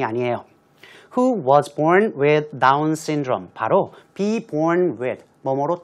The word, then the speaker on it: Down syndrome: S가 2번 나오니까요. 한 번만 발음하시면 될 것 같아요. Down's syndrome이 아니고 Down syndrome. 한 번만 하시면 될 것 같은데요.